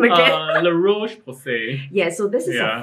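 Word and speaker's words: La Roche-Posay: How do I pronounce this brand name again? La Roche Posay.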